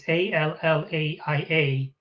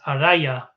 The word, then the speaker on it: Alcyone: They pronounce it a little differently, even though, it's spelled differently, but the pronunciation is Raya, except here on the spelling, it's Allaia, but it's supposed to read as Araya. So in your head, it almost sounds like Arya.